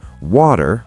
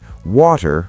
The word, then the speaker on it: water: American, water with a soft D. British, water with a clear T.